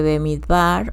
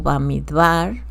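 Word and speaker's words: במדבר: La lectura está en el libro de Bemidvar o Bamidvar. Se puede pronunciar de las dos maneras, bemidar o bamidvar.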